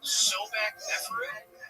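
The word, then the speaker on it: Sobekneferu: Yeah, the first female pharaoh, and it's about, now correct me if I'm pronouncing this wrong, Sobek Neferu?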